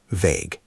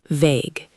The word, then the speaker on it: vague: It's one syllable and it rhymes with page.